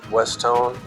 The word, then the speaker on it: Westone: stone so when you put those together it's westone so that's the way you pronounce it and it's good to know after